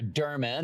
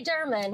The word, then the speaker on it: Durman: me uh Sarah durman and that's how I pronounce your last name and I know there's a controversy about how we say it right there is how do you say it I say German okay good good I'm